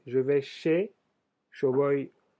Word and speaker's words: chez: Sería chez, se escribe, no se dice che, como está escrito, pero se escribe con SH. Se dice como SH.